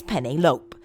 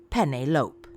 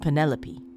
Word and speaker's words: Penelope: pronouncing her name right do you realize that you're saying penny like the pasta and lope like a dog running across a field pentelope he gave me